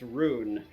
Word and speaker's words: rune: tell him that right it's pronounced roon Alpha overcharge the runes